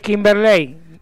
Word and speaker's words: Kimberley: Cómo quié dice acá es kimberley con con con el acento en la e correcto viste kimberley viste